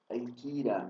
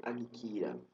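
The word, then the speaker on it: ἄγκυρα: A letra grega gama, ela deve ser pronunciada como um som e de mi nu quando precede a um k ou outro gama. Veja, por exemplo, angelos e não agelos, anquira e não agquira.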